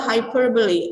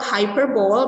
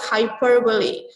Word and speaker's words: hyperbole: Nah, kamu cek nanti pronunciation-nya ini adalah hyperbole, oke? Jadi it's not hyperbole, but it's hyperbole.